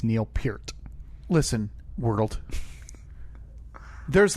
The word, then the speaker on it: Peart: I've been corrected that it is pronounced Peart.